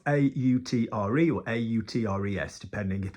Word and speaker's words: autre: um or a utre other is spelled a u and everywhere else in French that you see a u is o o like o Cafe you know a cafe Olay for example we don't say yeah it's just with